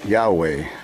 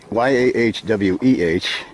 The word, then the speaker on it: Yahweh: And most people believe it to be pronounced as Yahweh, or Yahweh, Y-A-H-W-E-H. I believe with a U in it, it's probably a little more accurate.